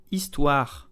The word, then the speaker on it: Histoire: The H is silent, so begin on the vowel. It's okay? This is not histoire, no, histoire.